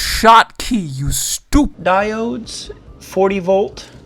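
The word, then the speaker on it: Schottky: We're going to take some shoddy Scotty Shody, it's pronounced shot key, you stupid diodes, 40 volt.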